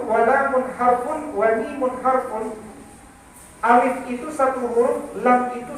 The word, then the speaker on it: alif: Makanya meski dia alif, bacanya benar, alif. Jangan alif, gitu ya Bu. Jangan baca alif. Alif itu fitnah. Dibacanya alif.